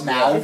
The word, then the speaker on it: Smaug: It's Smaug. Smaug. It's Smaug. Desolation of Smaug. Smog. Smaug. No, Smaug is what happens in LA. Oh. Smaug is a British dragon. Yeah, Gotcha. that's how they say it.